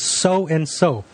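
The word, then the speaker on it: Sow and So: Her Twitter is So and So, but it's spelled SOWANDSO.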